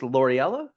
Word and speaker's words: Loriella: Is it pronounced Loriella?